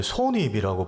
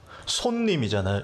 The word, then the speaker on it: 손님: 목사님 근데 설교하실 때 손님을 왜 손입이라고 발음하세요? 이러는 거예요. 손님이잖아요. 이걸 왜 손님 이렇게 발음하냐는 거예요.